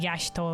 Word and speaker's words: Y'shtola: I forget it is pronounced, I think, Y'shtola. I think different characters pronounce it differently, as is many things in this game. I always say Y'shtola. But Yashtola, I think, is the way that many people pronounce it.